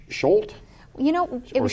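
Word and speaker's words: Schuette: This year's problem dealt with the case of, I don't know if I'm pronouncing this right, Scholt? You know, it Or was Schulte? we pronounced it as Schutte.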